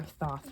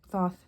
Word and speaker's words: Thoth: a Crowley Harris oath it's our thought like Thoth though I vacillate between the pronunciation of it because I'm crazy um